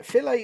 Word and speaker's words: filet: fillet fillet he says filet is pretty much how it's meant to be pronounced originally it's a french word nothing to do with